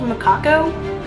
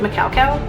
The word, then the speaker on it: macaco: So next up is going to be I think it's technically called macaco, but I always pronounce it macau-cow just because I think it's funny.